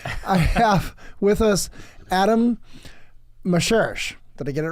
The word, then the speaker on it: Moscherosch: a while y I have with us Adam Maser did I get it right yes you did